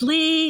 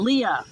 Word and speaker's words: Lee: And it's Lee, not Leah.